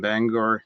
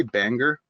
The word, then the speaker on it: Bangor: Maggie Park earned her PhD in film and digital media from Bangor University. Do we say Bangor? No. Bangor, rhymes with hanger.